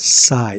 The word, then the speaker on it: psi: In this equation, psi, pronounced as psi, S-I-G-H, is the amplitude of electron wave function.